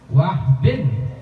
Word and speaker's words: Wahb: Ya, siapa yang bahwasannya nama ibunya Nabi Muhammad sallallahu alaihi wasallam yaitu Aminah bintu Wahbin, bukan Wahab tapi Wahbin bin Abdul Manaf bin Zuhrah bin Kilab.